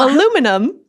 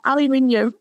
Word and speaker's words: aluminium: Oh, aluminum. Aluminum. Yeah, aluminium.